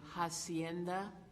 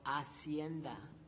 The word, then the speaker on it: hacienda: This word has two pronunciations, either hacienda or hacienda.